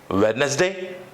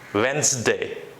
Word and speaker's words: Wednesday: say that day it's madness day so the pronunciation for this particular term is Wednesday there is no wetness day but it's Wednesday Wednesday Wednesday the next word come